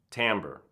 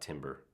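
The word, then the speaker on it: timbre: tones of a single tamber and for those of you tamber is spelled t n b r e not it's not Timber uh this is the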